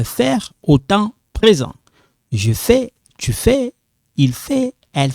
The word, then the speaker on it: fais: So when you see the AI like this in French, the pronunciation is like this. Like that. It's like eh. When you, in case if you write like you write like this for the pronunciation, I understand. If you write like this, it sounds like I understand. Okay? So one more time. Je fais. I'm not saying je vais.